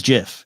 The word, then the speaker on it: GIF: or jif it is jif even the creator says jif doesn't matter we have